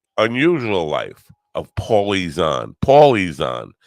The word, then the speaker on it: Paulie Zahn: Paulie Zahn, not Paula Zahn.